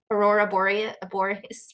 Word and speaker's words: aurora borealis: I drawn the aurora borealis after you, or aurora, how do you pronounce it? Aurora borealis, borealis. Aurora borealis. Yeah, you got it.